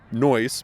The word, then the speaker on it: Noyes: it, and in it, it's Noyes rhymes with choice. So it's pronounced Noyes, but most people just say Noyes. So either way works.